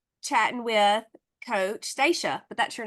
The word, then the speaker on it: Stacia: I was about to say chatting with Coach stasa but that's your name you're not a coach are you are you gonna be a coach no no not right now no this is stasa I think I was wanting to think about